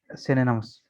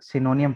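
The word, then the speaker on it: synonym: अच्छा, ये जो वर्ड है इसको अक्सर लोग सिनोनियम पढ़ते हैं, ठीक है, क्योंकि हमें आदत है, हम अरबी की तरह इसको भी हिज्जे करते हैं इंग्लिश को, तो ये हिज्जे के अतबार से सिनोनियम बनेगा। लेकिन असल प्रोनाउंसिएशन इसकी जो है वो सिनोनिम है। ये नीचे लिखा है, ठीक है। सिन ए नम, सिनोनिम, सिनोनिम, ठीक है, मीन्स सेम मीनिंग वर्ड।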